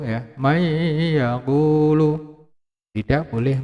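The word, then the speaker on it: مَن يَقُولُ: May yaqulu, ya, may yaqulu. Tidak boleh man yaqulu, ya. Karena ini adalah hukum bacanya idgham bi gunah, ya, maka harus dileburkan dan didengungkan. May yaqulu, ya, tidak boleh man yaqulu.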